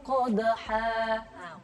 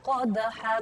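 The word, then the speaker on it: قَدْحًا: Kemudian ayat kedua fal muriyati qadha. Nah, qadha bukan qadhan tapi qadha kalau diwaqaf.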